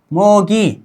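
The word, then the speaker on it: 모기: मोगी, ठीक है। मोदी नहीं, बल्कि मोगी।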